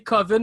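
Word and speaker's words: Coven: d'horreur d'horreur qui s'appelle covin qui devrait se prononcer commune le yendo klaba dans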